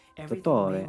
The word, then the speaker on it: Dottore: Dottore. I guess he could be saying it right. Maybe I'm wrong. No, he's still saying the T's too much.